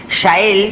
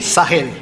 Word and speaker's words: Sahel: Batallas geopolíticas en el corazón del Shael. Sahel. Sagel, ¿cómo se pronuncia eso? Sagel. Bueno, y destinados por la providencia, una historia de la relación del imperio con nuestra América.